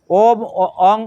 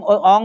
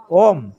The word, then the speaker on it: ওম: ওম অং উচ্চারণ হবে না কি হবে ওম ম এর উচ্চারণ হবে তাহলে তিনি গায়ত্রী মন্ত্র